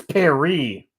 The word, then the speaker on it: Paris: goddamn pronunciation it's Perry I